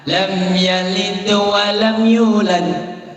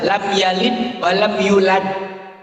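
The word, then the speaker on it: لَمْ يَلِدْ وَلَمْ يُولَدْ: Tapi dia nggak boleh kalau itu dibaca lam yalid wa lam yulad. Itu yang nggak boleh. Yang benar lam yalid wa lam yulad.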